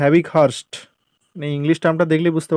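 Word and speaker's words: Havighurst: এই 71 নম্বর প্রশ্নের সঠিক উত্তর হবে অপশান এ, হ্যাভিখান্ড, বা এটাকে হ্যাভিক হার্স্ট বলে। এটাকে উচ্চারণটা একটু ভুল আছে বাংলায়, এটাকে বলা হয় হ্যাভিক হার্স্ট।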